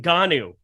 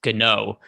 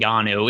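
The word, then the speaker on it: Ngannou: annick got there is francis and ghana's name was mispronounced in every single fight they called him francis cano before then just because neither neither rogan or mike goldberg ever cared to ask him how to pronounce his name uh but i'm i'm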